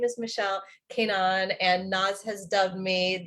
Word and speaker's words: Keinan: Keinan? Keinan is how Americans pronounce it. It's actually Keinan, if you want to be.